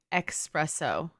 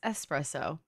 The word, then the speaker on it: espresso: my friend she was saying espresso but it's espresso and so I was correcting her and I was like well it just is very American to say espresso cuz one that's literally not how it's spelled and two it's you know